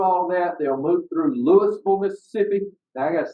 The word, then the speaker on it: Louisville: They'll move through Louisville, Mississippi. Now I got a secret for y'all. Folks in Kentucky say it wrong. It's not Louisville. It's Louisville, Mississippi.